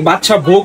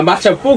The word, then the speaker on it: বাদশা ভোগ: চাইবে ওই মিষ্টিটা বাদশা বুক বাদশাক বাদশা আসলে এই বাদশা ভোগটা কি বাদশা ভোগ হবে না বাদশা পোক হবে এটা আসলে উচ্চারণ বাদশা ভোগ এটা শুদ্ধ উচ্চারণ কি খাচ্ছ হ্যা